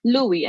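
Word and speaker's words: lui: You could pay attention to how it sounds. Louie. Okay, that reminds me of King Louie.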